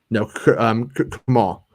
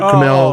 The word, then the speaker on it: Kumail: No, Kamal. Oh, Kumail okay.